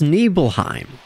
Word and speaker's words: Nibelheim: It's pronounced Nibelheim. Nibel. Mount Nibel. Nibel.